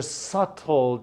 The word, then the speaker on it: subtle: they're changing these are subtle changes good words sub dull but we don't use we don't pronounce the be it's subtle okay if subtle me means